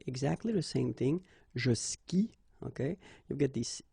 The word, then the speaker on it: skie: And it's exactly the same rule, so you've got this after, but then clearly you don't pronounce it, okay? Elle joue. And then, je skie, okay? Exactly the same thing, je skie, okay?